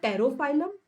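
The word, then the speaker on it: Pterophyllum: तो टैबलेट में टी से टेरोफाइलम, पी साइलेंट है यहाँ पे।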